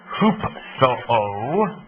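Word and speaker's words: ὑψόω: the Greek word there hoop Soo it's not a misprint hoop so with a long o at the end okay which simply means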